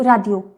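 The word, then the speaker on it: 라디오: बट राडियो जो Korean pronounce करने का तरीका है वो according to sound he pronounce करेगा, क्योंकि कोरियन में ड साउंड है ही नहीं। तो इसलिए हम इसको रेडियो या राडियो नहीं पढ़ के इसको राडियो राडियो राडियो। ओके, तो हम इसको पढ़ेंगे राडियो।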